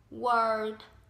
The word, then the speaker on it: world: Đưa cái môi này tròn này, world có chữ r và chữ d thì mình sẽ phải